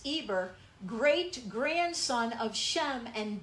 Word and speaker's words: Eber: of eber which actually in the hebrew has an h in front of it which we would pronounce heber but in the hebrew it's eber great grandson of shem